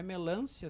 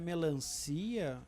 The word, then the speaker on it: melancia: No caso de melância, é melância. Se ela colocou aquele acento circunflexo, é porque, afinal, aquela sílaba é mais forte. Né? Mas aí, se é melancia, já mudou de lugar. Sim. A sílaba, inclusive a acentuação.